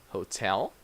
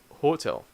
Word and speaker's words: hotel: stress in these words so people would say like hotel or for table or visit table but that's not correct that in English we have different stress so we say Hotel comfortable vegetable so this is one